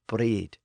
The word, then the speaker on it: brid: So there we often find it spelled B-R-I-D or B-R-Y-D and pronounced something like breed.